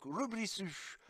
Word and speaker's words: Lfrith: Et aujourd'hui, donc, pour mon plus grand plaisir, je vais vous présenter le High Grade Le Frith, à prononcer donc Rublisu en japonais.